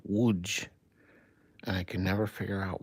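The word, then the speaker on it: Łódź: I used to think that the town was called Lodz because it was spelled L O D Z. But then I found out that it's actually pronounced Wuj.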